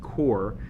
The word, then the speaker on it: QoR: be unboxing and swatching the golden core pronounced core mini 12 half pan